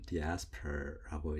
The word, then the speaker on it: diaspora: 네, 정식 영어로는 diaspora라고 읽습니다.